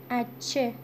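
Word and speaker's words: hache: حرف بعدی اچه. اچه. اچه. خب این همون اچ انگلیسیه که در زبان اسپانیایی اسمش اچه هست و تلفظ هم نمیشه، یعنی صدایی نداره، تلفظ نمیشه.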